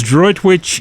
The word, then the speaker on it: Droitwich: It's Droitwich in Worcestershire.